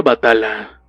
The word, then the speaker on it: Batal: Batal significa héroe en árabe, se pronuncia Batala.